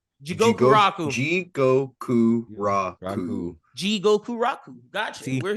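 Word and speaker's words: Jigokuraku: Gabby Maru from Hell's Paradise or Jiko Roku. I definitely. Is that how you pronounce it? Jigoku Raku.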